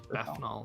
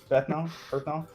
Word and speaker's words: Bethnal: It's Bethnal, like methanol. Berthenol.